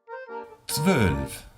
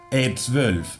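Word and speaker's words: zwölf: Además, es interesante que no pongamos una E delante. Como hispanohablantes, tenemos mucha tendencia a ponerle una vocal delante de un comienzo muy consonántico, porque no estamos acostumbrados a pronunciar una T, una S y una V seguidas al comienzo de la palabra. Por tanto, es muy típico poner una E. E12. Nein. Queda muy feo, sucio.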